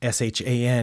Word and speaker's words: Chan: just Chan for short like the s-h-a-n in shanty town for example the a is also a tricky letter in English because it's pronounced ah sometimes in certain words or a but in this case it's a like c-a-n like drinking soda out of a can except just change that to Shan unlike some of my